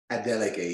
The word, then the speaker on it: Adeleke: Remi Adeleke, is that how it's pronounced? Adeleke, yes, that's good.